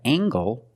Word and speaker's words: angle: We have angle, spelled L-E, making the nasal sound and the hard g.